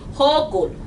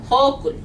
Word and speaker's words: Hochul: No se escribe así, pero así se pronuncia. Okay? Hochul. Hochul.